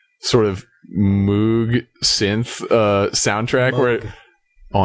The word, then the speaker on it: Moog: But it has like really strange like sort of Moog synth uh soundtrack where Oh, I'm sorry, Mr. Music Major. It it it's pronounced Moog.